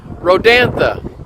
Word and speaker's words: Rodanthe: Rodanthe? And you sure that's how it's pronounced? Yes, there was a movie called Nights in Rodanthe. Okay, Rodanthe.